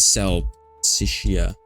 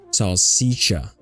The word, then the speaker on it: salsiccia: Oh, what is salsiccia? It's a sausage. And next thing, that word pronunciation, salsiccia. Sal rhymes with pal. Sick sounds like C. Sia sounds like cha or cha. Salsiccia.